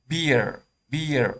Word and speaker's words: beer: خب beer این از قاعده بیرون نه که ترزی تلفظش انه بیر هست.